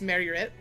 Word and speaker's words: Myrkur: So Myrkur, the pronunciation in Danish is wrong. I listened to it several times on Google to try and figure it out, but in essence it's just Myrkur.